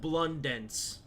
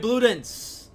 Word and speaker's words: Bludenz: I've said Blundenz. Even though there's no N there, it's just Bludenz, so...